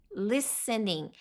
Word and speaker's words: listening: Listening. Esse T é mudo, tá? Então não é listening. Não, listening, listening, tá?